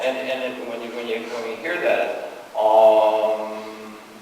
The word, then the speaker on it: Om: And when you hear that, Om. And it's really 3 syllables. And there's a lower ah. There it is. It's a really nice low ah. And then there's a middle ooh, which will bring the energy up into our chest.